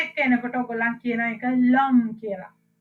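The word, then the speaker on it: l'homme: එතකොට l එකත් එක්ක එනකොට ඔයගොල්ලන් කියන එක lum කියලා. h එක pronounce කරන්නේ නැහැ. You don't pronounce the h there.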